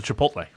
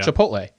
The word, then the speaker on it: Chipotle: That's the Chipotle.